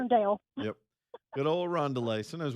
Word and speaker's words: Irondale: one day because he couldn't find how to get to a Rondelay. A Rondelay. Classic. Irondale.